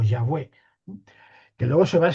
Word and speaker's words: Yahvé: Entonces, la diríamos la pronunciación sería la de Yahvé o Yahweé, que luego se va